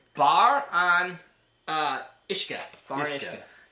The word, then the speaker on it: Uisce: cuz freaking hard to say you're going to pronounce this right bar on uh ishka bar iska u i s c yeah obviously ishka Isa um we have an 1803 and a